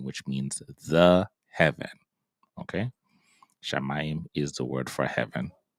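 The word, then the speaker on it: שָׁמַיִם: This is why we're pronouncing it as shamayim which means the heaven. Okay, shamayim is the word for heaven.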